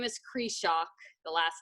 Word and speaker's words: Krzysiak: i'm doing but oh man my name is cree shock the last name is cree shock just ashley k is good i went from